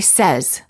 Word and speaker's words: says: against any many warning common mistake the verb say is pronounced with an s sound in the past tense and in the present tense when it is followed by an s for example i say but i said he says don't say i sayed